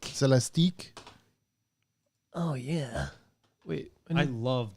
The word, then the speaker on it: Celestiq: This Cadillac Celestique.